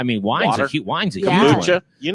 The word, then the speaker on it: kombucha: Kombucha. You like kombucha. I'm in love with kombucha. Can you say kombucha or how do you say it? I say kombucha. You say kombucha. Kombucha. Like it's calm. Yeah.